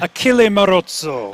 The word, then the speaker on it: Achille Marozzo: Did I pronounce that correctly, Matt? Achille Marozzo.